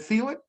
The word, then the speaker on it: Thielen: Is that we're actually, her and myself and another young lady, Pamela, is it Thielen? Thielen? Teal Thielen. Don't pronounce the H.